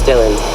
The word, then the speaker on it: Dylan: Yeah, my name is Dylan. Can you spell it?